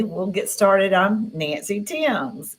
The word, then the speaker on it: Thames: I'm Nancy Thames. It's Yeah. pronounced a little differently. So, So, it's like the Thames River in England.